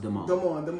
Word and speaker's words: Damon: But his real name is pronounced Damon.